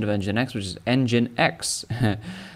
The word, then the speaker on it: nginx: of nginx which is engine x like an engine in a car and that's where they